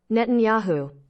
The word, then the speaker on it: Netanyahu: see it make sure I get it right pronounce about Benjamin Netanyahu Netanyahu got it oh man he's got a